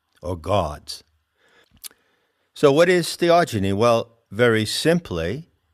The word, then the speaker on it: theogeny: ever heard the word theogeny i coined that term when i wrote the seekers handbook it's spelled h e o g e n y genie as in genesis generation epigenesis genetics so